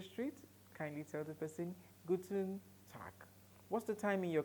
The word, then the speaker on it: guten Tag: it is guten tag guten tag take note of my pronunciation I am the pronouncing tag I am pronouncing tack guten tag so when